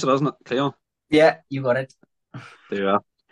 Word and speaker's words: Llion: That's how you pronounce it, isn't it? Llion?